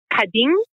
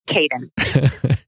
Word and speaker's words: Kadın: In Turkish, it's pronounced Kadın, but I didn't think that we would be able to push that, so it's Caden.